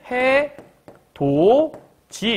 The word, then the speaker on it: 해돋이: 걸 얘기하는 거 같고 해돋이는 해 도지 이렇게 발음을 하는데 어 디귿이라는게 몸 위를 만났더니 지읒으로 변했네 이거 얘기하는 거야 그래서 이쪽에는